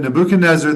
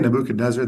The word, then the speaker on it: Nebuchadnezzar: When I say Nebuchadnezzar, that's the way I pronounce it, because in Arabic we say Nebuchadnezzar. But here I know you say Nebuchadnezzar. I switch back and forth.